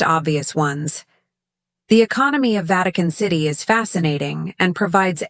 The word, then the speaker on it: Vatican: Notice how I pronounce Vatican with stress on the first syllable.